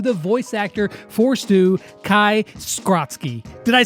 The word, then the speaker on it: Kai Skrotzki: back today for another Brawl Stars video, and today we are going to be talking to the voice actor for Stu, Kai Skrotzki.